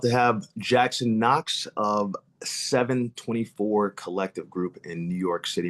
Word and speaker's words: Seven24 Collective: Yeah, just just like it's spelled. Uh, but I'll spell it for you. That's s e v n 24 c o l l e c t i v e. That's 724 collective.